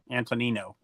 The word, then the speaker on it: Antonino: Okay, so Antonio was the correct pronunciation. Antonino. It's Antonino.